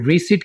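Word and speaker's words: receipt: रसीद को इंग्लिश में रिसीट कहेंगे, यहां पर आपने पी को साइलेंट रखना है, रिसीट।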